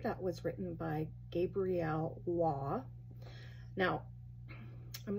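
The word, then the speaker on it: Roy: was written by Gabrielle Waugh. Now, I'm not sure if I'm saying that correctly, but I think that's the French pronunciation of R-O-Y.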